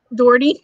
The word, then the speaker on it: Doherty: Nana says you said it right. You pronounced her name right. Doherty.